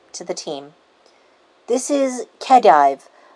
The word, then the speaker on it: Khedive: you to them to the team this is kedive kadiv kadive how do you think that name is pronounced hmm thank you this is khedive a scholar specifically called in from sumeru his